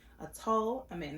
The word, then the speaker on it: Atul Amin: Atul Amin, that's how you pronounce it.